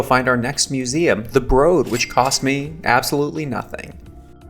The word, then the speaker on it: Broad: advance just escaped the broad and I ran across the street here to the Disney Concert Hall to talk about my experience the broad often pronounced the broad which I think is incorrect but there might be